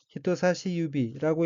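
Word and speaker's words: 人差し指: 둘째 줄 두 번째 의인 한자가 사람인 다를 차 가리킬 지자가 들어 있고 일본으로는 히토사시 유비라고 읽으며 히토사시 유비는 집계 손가락이란 뜻입니다.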